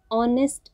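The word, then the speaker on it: honest: एच से start है, बट एच is silent here. यहाँ पर एच साइलेंट है। साउंड किसकी आ रही है, वावल की साउंड आ रही है, ऑनेस्ट, अ की साउंड आ रही है, so that's why will use here N.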